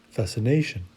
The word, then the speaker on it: fascination: i will look at each time i look at each each of the suffixes i go back one syllable and that's where i will find the accentuation so that means for each word i'm going to accentuate that syllable just before nation emotion and of course fascination the same goes for